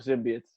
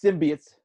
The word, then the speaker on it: symbiotes: zimbab and then we're gonna be full of symbiotes and then it's pronounced symbiotes not symbiotes symbiotes that's